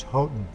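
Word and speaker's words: Houghton: at Arizona public media go with the family's preferred pronunciation which is hoton boy I'm not sure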